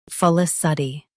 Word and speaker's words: felicity: felicity Both US and UK have the same pronunciation of this word. Stress luh. Keep fuh and suh soft. Then finish with tee.